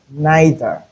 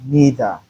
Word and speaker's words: neither: We can either say neither or neither. Both ways are correct.